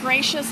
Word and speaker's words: Gratias: my website and because my name is pronounced gracious but it is not spelled that way so pardon me well